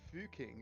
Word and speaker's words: Fucking: Salzburg, and it's called Fucking. Nice. It's spelt how you think it's spelt, but they're like, no, it's pronounced Fuking.